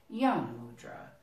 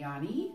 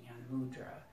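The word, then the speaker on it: Gyan Mudra: basic one, is called Yana Mudra. Now it might be Yani or Yana Mudra, and it is with a G, but the G is silent. G-Y-A-N, Yana Mudra.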